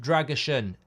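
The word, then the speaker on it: Drăgușin: turkey thanks mate um drason is pronounced pronounced dragushan and in English says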